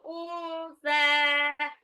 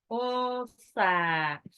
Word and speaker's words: unsa: Wama khalaqadz dzakara wal unsa. Kenapa bacanya unsa? Karena nunnya itu ketemu sa jadi ikfa, jadi ditahan. Gunnah, tidak boleh terdengar n-nya. Usa.